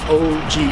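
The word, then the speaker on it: ogee: floral leaf patterns around an OG arch to mispronounces not pass oh gee arts from OD arch it isn't an original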